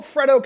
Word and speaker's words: Freddo: Freddo Bar, or the Frito Bar. I pronounce it Freddo because it's Fred D-O, Freddo Bar.